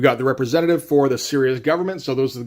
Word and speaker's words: Sirius: saying out loud, because it's spelled, Sirius as in the dog star, but yeah, no, Sirius as opposed to unserious, sure.